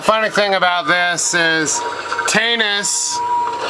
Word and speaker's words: Tanus: thing about this is Tanis rhymes with anus he was a nice